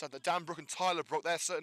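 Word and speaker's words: Bruck: Must add that Dan Brook and Tyler Brook, their certain names are spelled differently, so they're definitely not related.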